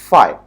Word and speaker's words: phi: इसका pronunciation फाई होता है, ग्रीक अल्फाबेट है, उसको कोई डरने की बात नहीं है।